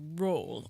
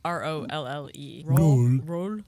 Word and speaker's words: Rolle: And in France, they call it Rolle. R-O-L-L-E.